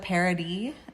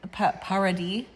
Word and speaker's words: Paradis: it says first wife Vanessa parody parody oh dear spelled like paradise without the e at the end she's like a French